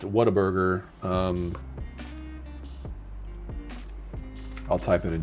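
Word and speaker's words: Whataburger: It was like, "What a burger." But people say water burger.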